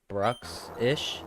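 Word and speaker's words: Bruxish: Brooksish.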